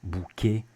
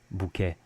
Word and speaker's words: bouquet: And the A sound can also come from longer words ending in ET. Poulet, objet, bouquet, or with a northern accent, poulet, objet, bouquet.